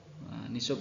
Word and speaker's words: nisab: yang namanya Ni Sob nishob itu apa sih atau tulisannya di situ nisab bacanya nih sob oh my shop adalah